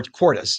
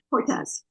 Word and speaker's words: Cortez: Uh or Cortis. Do you pronounce it Cortis or Cortez? I'm sorry. Cortez. Cortez. There we go. I have a friend spelling it the same way who says Cortis. That's why I want to check.